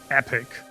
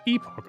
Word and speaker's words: epoch: The American pronunciation is supposed to be epic. The British pronunciation is supposed to be epoch. A. So, both are right.